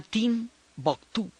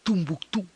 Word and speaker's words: Timbuktu: Entonces, se pronuncia de muchas maneras según quien lo esté pronunciando. Para muchos para los ingleses y los árabes lo llaman Timbuktu. Los franceses lo llaman Tumbuctú. Tinabactú es como le dicen los tuaregs.